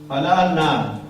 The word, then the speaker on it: Alalnath: Alalnath. Right. You go to Alalnath and taking darshan of Alalnath, which is outside Jagannath Puri, 20 kilometers.